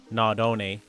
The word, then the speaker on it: Nardone: A car that's based on the Nardone 928, and that is the correct way to say it cuz it's named after the family name Nardone, which were the founders.